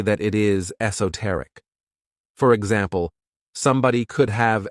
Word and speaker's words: esoteric: This word has 4 syllables, and the stress is on that third syllable, esoteric.